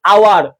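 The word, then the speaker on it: hour: কারণ এইচ এর উচ্চারণ অ এবং আ হয়ে গেছে। কারণ অ এবং আ হয়ে গেছে। যেরকম আওয়ার, অনেস্ট, অনার্স, এগুলা কি?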